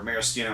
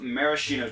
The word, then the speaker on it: maraschino: ounce of maraschino liqueur now maraschino or maraschino i guess is actually the correct way to pronounce it is a liqueur made